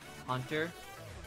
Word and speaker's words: Hunter: And first off, I just want to say it's pronounced like Hunter with a U at the end.